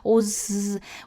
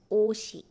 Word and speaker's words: 옷: a syllable, which means you will pronounce it as 옷. So you don't have to think about, how am I supposed to pronounce this 시옷 in the final position? 오즈. We don't have such sound. So it's 옷.